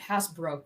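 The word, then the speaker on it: Happisburgh: don't see them pronouncing the footprints at Hasbro correctly, though. No. Which is written as Hapisboro.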